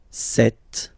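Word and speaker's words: cette: set feminine set so you can notice that phonetically these two are pronounced the same way okay set here and then set here and for the plural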